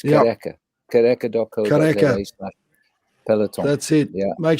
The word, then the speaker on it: Kariega: Well, Marika's almost got the name pronounced perfectly. Marika, now it's Kareka.